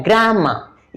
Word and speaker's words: grammar: इसका प्रोनाउंसिएशन क्या है, ग्रामर। इसका जो है अ हो जाएगा, ग्रामर।